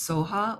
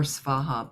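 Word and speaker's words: svaha: syllable so or Saha the Tibetans in their language um don't have a V pronunciation so often it's pronounced SOA or Saha both are proper like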